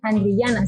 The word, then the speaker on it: Andriyana: ¿Sí lo estoy pronunciando bien? Andriyana, siempre lo digo. ¿Sí está bien? Sí, muy bien. Tú eres entre pocas personas que sí saben pronunciarlo.